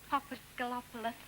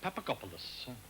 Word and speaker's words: Papagopoulos: How many shops has Mr. Papagalopoulos? 6, Miss Regent, and the name is Papagopoulos. Papadopoulos?